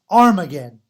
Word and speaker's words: Armageddon: har mageddon okay but if it's the other way then it's the alpha it's the a it's armageddon okay so we come into it with the battle of armageddon because we've got a